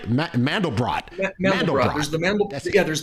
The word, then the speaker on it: Mandelbrot: it that makes it stand out from a male brought or am i pronouncing that right mandelbrot there's the mammal yeah there's the mandelbrot and there's multi brats where you change the